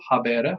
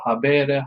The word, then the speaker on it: habere: So let's start with the first word here, which is habeo, habere, habewi, habetum. That is how you say it. You always do the 4 principal parts, right? So habeo, habere, habewi, habetum.